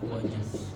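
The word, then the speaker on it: واجلس: Tapi kalau saya dahului wau bukan wa ijlis tapi apa? Wajlis. Wajlis enggak dibaca. Kenapa? Karena enggak di awal kalimat.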